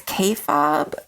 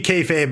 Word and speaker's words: kayfabe: has a theory about, and I'm going to pronounce this wrong, but I think it's kayfabe or kayfabe.